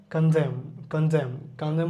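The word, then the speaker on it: condemn: কলাম কলাম কনদেম বলতে কি বোঝায়?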